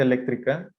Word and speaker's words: eléctrica: No hay corriente eléctrica. Eléctrica, lleva acento en la E.